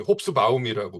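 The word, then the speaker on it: Hobsbawm: 에릭 홉스봄이라고 하는 역사가가 있습니다. 본토 발음으로는 홉스바움이라고 불러줘야 한다라는 건데 이분이 이제 19세기 3부작으로 유명을 해요.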